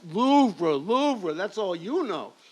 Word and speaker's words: Louvre: It's pronounced Louvre, Louvre.